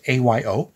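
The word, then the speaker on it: Ayo: and it looked interesting I believe her name is pronounced IO it's a Yo and this is her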